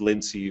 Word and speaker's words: Lijnse: Dutch Heritage that means that IJ combination is basally a y so don't try to pronounce it the J just keep it with Lindsay or call me